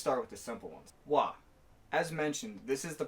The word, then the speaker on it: は: and yes, I said wa. When the character ha is used as a particle in this way, it's pronounced wa.